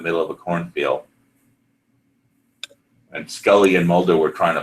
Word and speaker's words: Scully: for some reason he could not pronounce Scully correctly he kept he kept saying Skelly we kept and and the Italian dubbing director was like it's Skully not Skelly and you know say